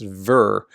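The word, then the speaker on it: Tver: I know you probably don't care, but it's pronounced ver, like very. That's ver, that T-V-E-R.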